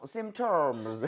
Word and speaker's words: symptoms: P가 묵음인가 보구나.